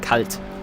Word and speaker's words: kalt: Ah, kalt, not kite, kalt.